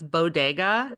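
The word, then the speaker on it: Beau Degas: So that's Bodega. It's spelled Beao or Beau and then space and Degas, like the Ah, artist, which is yes.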